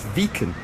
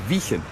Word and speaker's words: Wijchen: n exactly great spelling normally you'd pronounce vegan vacant wouldn't but actually they pronounce this place vegan or vegan apparently it dates back to like old dutch when the ij used to be a different sound than a so we're